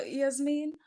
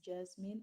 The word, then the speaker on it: Jasmine: So Yasmin, which country are you from? Jasmine. Oh, sorry. I've been pronouncing your name wrong. It's Jasmine.